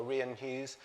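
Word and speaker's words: Rian Hughes: an illustrator as well rien keys that's how you pronounce his name otherwise I'd embarrassing myself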